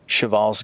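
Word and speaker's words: Przewalski: to introduce a rare animal uh this is pronounced shal's horse native to Mongolia and the last remaining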